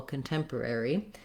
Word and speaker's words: contemporary: with temp temporary contemporary because we want this first syllable the c-o-n syllable to be very short and have a reduced vowel it doesn't have an o or an ah sound like letter o usually does it is just the